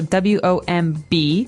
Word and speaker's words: womb: There's a B there, so W-O-M-B. We don't pronounce womb. Right. We say womb.